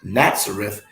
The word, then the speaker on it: Nazareth: let me read that again nazareth complete correctly pronounced nazareth appears 29 times in the new testament we